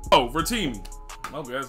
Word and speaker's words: Rotimi: How you pronounce his name? Oh, Rotimi.